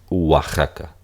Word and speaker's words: Oaxaca: o a Ja k en realidad se pronuncia Wa Como si fuese una u deslizada Y tenemos aquí oxaca